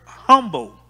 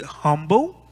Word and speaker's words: humble: You can pronounce the word humble without the H. And yet the word will still be effective. You can't announce the word humble without the H, and yet the word will still be effective. Some say humble, and some say humble. Regardless how you say it, with the H or without the H, it's still the same.